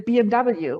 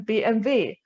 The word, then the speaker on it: BMW: little fun fact um we obviously pronounce these car brands in german in germany so we will not really say oh look there's a bmw we will say oh look there's a bmv or or we would